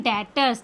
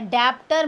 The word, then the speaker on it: debtors: इसके साथ होते हैं डेटर्स, DEBTORS, बी साइलेंट होता है, डेप्टर मत बोलना, डेटर्स। डेटर्स क्या होते हैं, हमारे